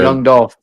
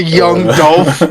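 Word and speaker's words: Yung Dolph: Sure, I would consider Young Dolph.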